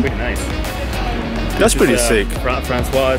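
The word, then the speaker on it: François: Francois. So that's how you pronounce his name. His name is Francois. No, I was calling him Francis.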